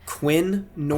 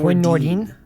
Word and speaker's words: Quinn Nordin: Quinn Nordin. Quinn Nordin. I thought so. Nordin, not Nordin. Nordin.